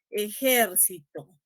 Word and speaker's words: ejército: Yo les recomiendo lo siguiente, si no pueden ubicar el acento, si tienen dudas, pronuncien las palabras con distintas entonaciones. Por ejemplo, ejército, no, ejército, ¿no? Ejercito, ¿no? Ejercitó, ¿no?